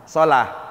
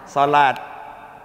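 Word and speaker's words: صلاة: Ini? Sholah. Kalau kita nyebutnya? Sholat. Coba kalau ada orang orang qomat hayya ala sholat. Hayya ala sholah. Oke, itu kekeliruan kekeliruan.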